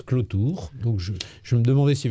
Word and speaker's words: Cloutour: C'est à propos de votre nom, qui s'écrit Clotour. Oui. Et qu'on prononce Clotour.